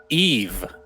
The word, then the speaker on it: Yves: So we got word in between games, Cinderin, that Yves is actually pronounced Eve.